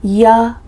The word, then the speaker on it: you: A common reduction for see you later is see ya later. The word you changes to ya.